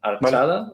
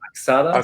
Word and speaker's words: Arxada: pronunciación de antes en Archada Axada según dás. Los americanos dicen más archada, los alemanes dicen más axada, ¿vale?